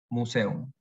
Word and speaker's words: Museum: Pero cuidado con las palabras como museum, donde la E y la U forman parte de sílabas distintas, por lo que no hay diptongo, y la pronunciación en alemán es simplemente museum.